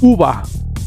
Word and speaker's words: über: En uva vemos que cuando la E está al final de una palabra, antes que la R, en vez de E suena como A. Y la R desaparece casi por completo. Entonces, uva.